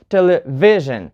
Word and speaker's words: television: the penultimate syllable and in such words as television you put the stress on V right because this is penultimate syllable you say television or revelation you put